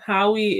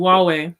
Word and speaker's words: Huawei: Howie is... Where's my mouse? There you are. A Chinese multinational... Huawei. Thank you, Huawei.